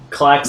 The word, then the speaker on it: Klac-Xen: No, I'm a Klac-Xen. Well, yeah, I know, It's but pronounced Klac-Xen.